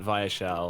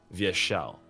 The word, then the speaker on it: Vyeshal: she'll and I'm like no it's not vile it's via shell and we had to